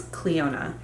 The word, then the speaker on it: Cliondah: i've ever purchased from i think it's cleona i think the dh is silent i'm not completely sure